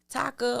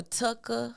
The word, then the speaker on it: Taka: Taka or Tucka, how they kind of pronounce it, that's Scar's real name.